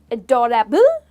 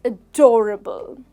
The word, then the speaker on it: adorable: with adorable it's adorable we don't say adorable it's adorable okay say it with